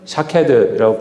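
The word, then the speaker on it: שָׁקֵד: 살구는 샤케드이라고 부르고 깨어 있다라는 거는 쇼케드 같은 단어인데 발음만 다를 뿐이에요.이 의미는요.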